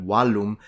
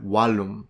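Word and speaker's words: vallum: interesting because in English when you say wall the word is probably recognizable to an ancient Roman from the Latin word walum at least they preserve the W so a Roman would have called it a walum a Modern English person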